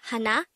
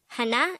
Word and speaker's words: 하나: hangout word number 178 this is pronounced as a two-syllable word the first syllable is ha the second syllable is na pronounce it with me the word hana is simply the native